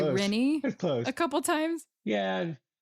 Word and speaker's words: Rinne: Uh last last name would be pronounced uh Rena kind of like that.